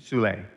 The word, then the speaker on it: Soule: Could you remind me of his last name, the pronunciation? Soule, S-O-U-L-E with the.